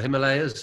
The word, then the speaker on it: Himalaya: Would it be somewhere in Himalaya or the Himalayas, as some people pronounce it?